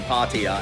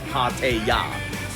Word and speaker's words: Pattaya: I'm constantly saying Pattaya, and it's not. It's Pataya.